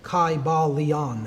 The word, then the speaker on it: Kybalion: a long I sound Kai ba Leon and every syllable would have been pronounced again people can debate